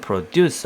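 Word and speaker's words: produce: 하려고 자 이렇게 만들어 달라 frogs 프로듀서 두가지 발음 있는데요 이것이 이제 어 우리는 동 4% 쥬스가 익숙하게 든요 그때는 프로듀스 하고 강세가 뒤쪽에 붙어 뭐를 생산하다 이런 뜻인데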